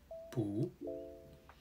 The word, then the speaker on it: 不: However, when the character that follows 不 is in the 4th tone, 不 changes to a 2nd tone, pronounced as 不.